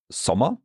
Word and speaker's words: Sommer: For our O, I think it was Sommer, and there we have a double M. Yep. Sommer, double M, and therefore we have the short O.